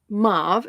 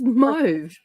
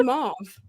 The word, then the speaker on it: mauve: it's like a red it's not mave it's mauve it's mave in America it's m okay you